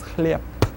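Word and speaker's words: хлеб: The word chleb will actually be pronounced as chleb. Not spelled, but pronounced. Take a look at the next one.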